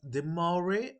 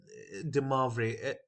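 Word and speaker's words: De Moivre: Demar race theorem now this is pronounced as the Maury or de mavre any any variation is fine if you understand the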